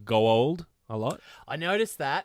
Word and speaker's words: Goa'uld: of those ladies were saying Goa'uld a lot. I noticed that. That was a little bit Neith annoying. was the worst Gold.